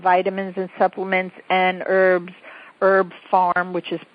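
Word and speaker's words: Herb Pharm: better brands of vitamins and supplements and herbs, Herb Farm, which is pronounced which is spelled H E R B P H A R M.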